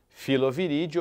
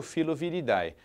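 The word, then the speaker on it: Filoviridae: Filoviride ou filoviridai. Sufixoidai pronuncia-se id.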